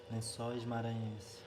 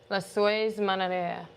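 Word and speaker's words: Lençóis Maranhenses: Lencóis Maranhenses. Lencóis Maranhenses.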